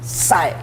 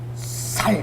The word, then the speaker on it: 쌀: 쌀 쌀 발음을 해 봐라.이 경상도 사람은 살 이래요.